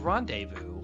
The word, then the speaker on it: rendezvous: But then they have rendezvous, which the Z is silent, as well as the S.